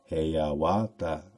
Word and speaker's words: Hiawatha: The Indian name Iawata, Hawata, Hayawata is commonly pronounced Hayawata. In the Indian form, it is Haya, Hawata.